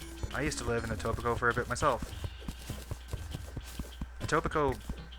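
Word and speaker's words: Etobicoke: And yes, I know how to pronounce it. It tobacco. I used to live in Atobico for a bit myself.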